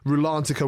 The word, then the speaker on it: Rulantica: And also, later this year is opening Rulantica. I'll say it correctly. Rulantica, which is going to be their new indoor